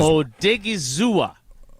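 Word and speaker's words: Odighizuwa: him he said uh if how do we pronounce his name again I just want to make sure because o dig is zua oh dig e e zo thanks to Hunter vaugh for the pronunciation um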